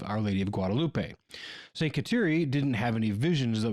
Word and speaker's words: Kateri: The Mohawk version of Catherine is Kateri, so it makes sense that the pronunciation should, or could, actually be Kateri, rather than what I've heard a lot, which is Kateri.